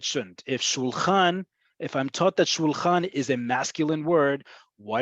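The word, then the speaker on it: שולחן: Shulchan. And say it with Hebrew pronunciation, not with English pronunciation. U, ah. Okay, so keep your vowels, your mouth doesn't go all over the place, right?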